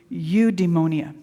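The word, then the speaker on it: eudaimonia: It's it's udemonia. Do you know what udeonia means? Okay, it's a new word. Say it with me. Udemonia. Udeonia. It's not spelled how it sounds.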